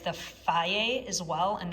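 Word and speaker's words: Fage: Otherwise, I like the Faye as well, and that's how you pronounce it, by the way, is Faye.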